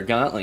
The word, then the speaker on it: gauntlet: a whole conversation of whether it's pronounced Gatlin or Gauntlet yesterday and we're not sure but we're going with Gatlin the warlocks gantlet is